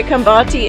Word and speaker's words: Qambathi: And you're supposed to say it with a click, but my Zulu's still up and coming. So Qambathi is QAMBATHI.